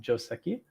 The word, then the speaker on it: Joseki: This is Joseki. Um it rhymes with Joski.